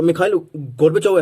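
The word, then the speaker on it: Михаил Горбачёв: तो मिखाइल गोर्बचाव ऐसे कुछ नाम है इनका।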